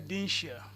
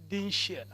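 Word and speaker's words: Dinshiya: I'm Dinsha. Could you say that again, sir? I'm Dinsha.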